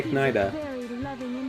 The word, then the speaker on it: echidna: echidna on robot action. I'm surprised you didn't say Ignida, I thought about it. which is a good pronunciation as well. It's acceptable. It's acceptable in the Sonic lore.